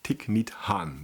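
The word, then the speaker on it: Thích Nhất Hạnh: to my attention by by tick meat Han that's the correct pronunciation if I recall correctly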